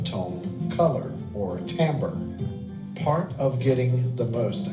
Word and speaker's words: timbre: the same thing and that Tambor is pronounced a Tambor it is interesting that